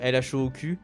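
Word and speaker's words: L.H.O.O.Q.: d'ailleurs à à l'œuvre LH au cul euh alors qui est une vraie œuvre. Alors ça s'écrit, attendez, faut que je vous mette quand même pour vous montrer. C'est L H O O Q Non L o Q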